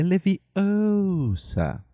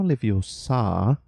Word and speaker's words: Leviosa: É Leviosa, não Leviosa. Temos até o som do A que a gente falou agora há pouco.